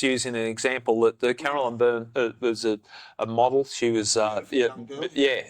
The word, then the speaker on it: Byrne: I pronounced it wrong. Byrne, sorry.